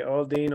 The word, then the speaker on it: Aldean: say his name wrong no no you said Jason Aldean we say all Dean all day strong Mega guy